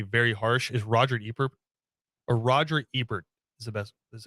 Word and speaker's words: Roger Ebert: he was usually very harsh is roger or roger ebert is the best that's how you actually pronounce it but he's he was chicago tribune